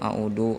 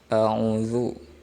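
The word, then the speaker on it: أعوذ: Ada yang a'udu, ada yang a'uzu. Nah, itu adalah salah, ya. Harusnya dibacanya a'udzu, ya. Gak boleh zu.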